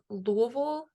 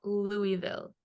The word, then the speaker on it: Louisville: plus our um fans it's Louisville not Louisville so we we need to get the pronunciation correct hey I'm just going